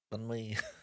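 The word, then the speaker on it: bánh mì: Oh, banh mi, as in the Vietnamese banh. Yes, You have to say it like banh mi.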